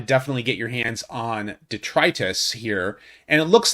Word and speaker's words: Detritus: or mercenary junkie on detritus is the character and I've mispronounced it before in the past in the past I said I said detritus or something like that but the fact that